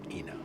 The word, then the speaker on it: Ina: accepted among our population here that yeah it's AA even though we know it's Ena I think if we said at this stage